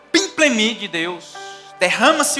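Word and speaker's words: πίμπλημι: A primeira palavra, olha que linda essa palavra, certamente não é essa pronúncia, né? Mas é pimplemi. Repete comigo, pimplemi.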